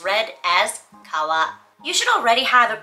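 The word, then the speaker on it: 川: For example, instead of just telling you that this kanji for river is kawa, it shows you via image that it means river and then tells you how to pronounce it. Kawa.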